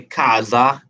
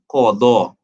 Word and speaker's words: qada: Now the first term qada, you might hear different people say pronounce this very differently. Like especially when it comes to performing your salah, people might say kaza, right? Or certain things like that. But the Arabic term is qada, right?